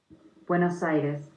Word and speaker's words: Buenos Aires: Let's see how it's pronounced. Buenos Aires.